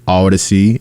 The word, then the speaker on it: Audacy: iHeartRadio app the free Odyssey app that's audacy Knuckleheads spell it right it's not Odyssey it's Odyssey a-u-d-a-c-y also the TuneIn app